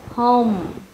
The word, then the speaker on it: home: Nhà chúng ta không đọc là home, home, home, hay nó là âm o rồi, mình phải mở miệng sâu hơn, o, o, home, home, home.